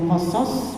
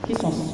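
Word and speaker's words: قصص: di dalam cerita-cerita ya, bisa bacanya qasas, bisa juga kisos ya, tapi yang lebih masyhur pakai qasas, seperti firman Allah dalam surat Yusuf, nahnu naqussu 'alaika ahsanal qasasi bima ya, mimma apa bima?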